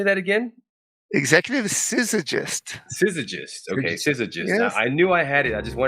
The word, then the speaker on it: Syzygyst: sit how do you say that again executive scissorgist okay scissor just yeah I knew I had